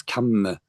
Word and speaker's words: kamma: I often hear people say karma, and the Thai word is gum, of course, and the Pali word is kamma. It's a lot clearer.